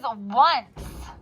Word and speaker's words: once: same beginning sound is once. Like once upon a time. Now here's the craziest thing about this word once. What does the beginning sound like? What? But it's not there.